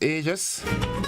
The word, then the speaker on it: aegis: It is aegis. Aegis. A-E-G-I-S. Aegis. Just, yeah, I had to get that pronunciation right because I'll get beat up this morning.